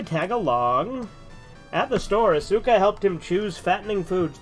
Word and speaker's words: Asuka: On his way out to get some groceries, he bumped into Asuka. Fuck, I said it right. God damn it. I never say Asuka right. I always say Asuka.